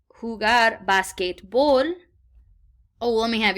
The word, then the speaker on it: jugar: J's in Spanish are pronounced like H's in this case. So repitan jugar. Say that again with really put an H at that first part.